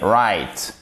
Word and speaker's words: white: fait toute la difficulté regardez white white le g le h on ne prononce pas c'est ce qui fait